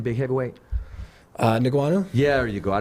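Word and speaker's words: Ngannou: So to go into MMA, How do you pronounce Francis' last name? Who? Francis' last name, big heavyweight. Niguanu?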